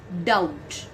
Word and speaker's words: doubt: the third word is doubt over here b is silent and now the fourth